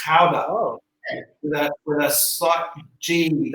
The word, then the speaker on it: Gouda: have you heard of powder yeah you probably pronouncing Gouda Gouda yeah I have it I have to